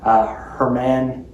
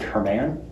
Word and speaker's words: Hermann: What's really important, around 1895, Hermann Gunkel, well, there's two N's, so I pronounce it Hermann. It could be Herman.